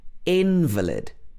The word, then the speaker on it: invalid: the contract was invalid the next one is invalid so in this word the stress is on the first syllable in invalid invalid this means somebody who